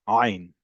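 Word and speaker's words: עין: the other Semitic languages, is its own consonant, and it's pronounced way back in your throat, ein, right?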